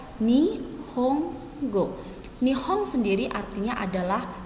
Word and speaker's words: Nihongo: go dalam bahasa Jepang huruf n di tengah Ini dibaca M maka Nihongo dibuat Nihongo dibaca nih home go nih Om sendiri artinya